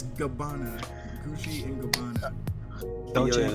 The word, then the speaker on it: Gabbana: Please say it right. Gabbani? It is not Gabbani. Who's Gabbani? It is not Gabbani, sir. How is not Gabbani? How is not Gabbani? Come on. It's Gabbana.